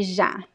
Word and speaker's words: já: Chá, but the word já is very voiced. It's a very strong sound, and all of the cords are vibrating when you pronounce já, já. Okay? But phonetically, they're very similar. The difference is that one is voiced, the other one is unvoiced. Muito bom, gente.